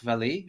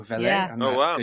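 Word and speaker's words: Vallée: alive his name is jack vallee or velen with my french pronunciation and he's like a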